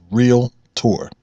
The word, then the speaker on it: Realtor: can custom the term real tour has but one pronunciation that's real tour that's two syllables industry professionals pronounce it correctly take a look at